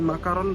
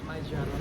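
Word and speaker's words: Macaron: Bukan makaron bacanya. Semua orang k pada bacanya makaron kat ya. Bukan majaron. Majaron. Majaron.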